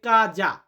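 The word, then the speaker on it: casa: তো এখানে কিন্তু টাইপিং এ ভুল হয়েছে সেটা হচ্ছে কাজ হয়ে গেছে এটা হবে কাজা উচ্চারণটা কি হবে কাজা ইলমিও কাজা আমার বাড়ি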